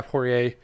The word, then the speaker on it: Poirier: Yeah, Poirier.